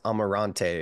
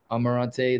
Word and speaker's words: Amarante: last name it's pronounced Amarante is that right Amarante that would be uh the English pronunciation and then in Portuguese